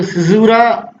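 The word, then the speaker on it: caesura: तो देखो सिजूरा, इसको सिजूरा ही बोलेंगे, इसका प्रोनाउंसिएशन थोड़ा अलग है, लिखने में अलग आता है सिजूरा।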